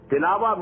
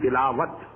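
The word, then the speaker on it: تلاوة: Tilawa means to recite, which we call in Urdu tilawat. In Arabic we have to pronounce it as tilawa.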